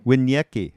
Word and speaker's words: Winiecki: Is that pronounced right? Rather. Winiecki. Winiecki.